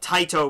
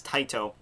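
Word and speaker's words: Tite: of a 27 chapter series by the great Tito Kubo um somebody left me a comment last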